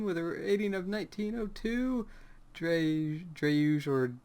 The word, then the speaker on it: dreuj: And Versus ranked third team with a rating of 1902, dreuj or dreuj I, versus brisk. I pronounce it dreuj.